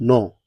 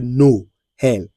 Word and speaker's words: Noël: In a normal sense, you could have pronounced it as "nol" "nol". But because of that tréma, you say "Noël".